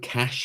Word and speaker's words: cache: also have a different cache memory. Remember, that's cache or cache. It's entirely up to you how you pronounce it. Cache is sort of the American one.